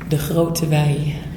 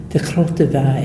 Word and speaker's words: De Groote Wei: Now, can you tell the pronunciation of the cidery? Because I want to make sure that I have that correct. De Groote Wei. De Groote Wei. Yeah. Everybody repeat after me. De Groote Wei.